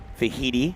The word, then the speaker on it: Vaihitimahana: And it was victory, speaking of Hawaii, for Vaihitimahana, rhymes with Tahiti.